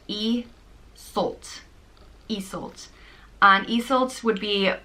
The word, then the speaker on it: Iseult: pronounced Iseult.